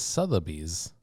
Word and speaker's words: Sotheby's: we're raising money to do this, to the Sotheby's auction has started and we're bidding on it. What's Did you say Sotheby's? Sotheby's? Yeah, what's that? It's What is- Sotheby's.